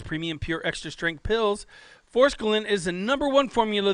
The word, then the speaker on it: forskolin: a there's a k in there we need pronunciations forskolin forskolin yeah it helps to suppress your appetite and